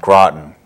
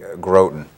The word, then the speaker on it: Groton: Or how to pronounce it, even. That's true. Groton. We still have people that say Groton.